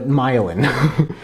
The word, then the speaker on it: myelin: Like violin, but myelin.